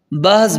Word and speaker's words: بہز: ہے وہ سمجھ لیں، با پر فتح ہے اور ہا ساکن ہے، یعنی بہز بن حکیم ان کی